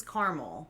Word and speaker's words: Carmel: My pronunciation of this word is caramel. As is mine. What? But the place is Carmel.